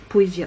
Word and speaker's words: Poesia: Voilà, c'est ça, hein, ça se prononce comme ça. Ouais, Poesia.